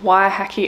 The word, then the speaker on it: Waiheke: and we want to make sure that we're pronouncing things right. So day two, we're going to Waiheke Island.